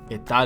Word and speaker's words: estar: There's the verb estar, meaning to be in the temporary sense. It's pronounced estar, Etal.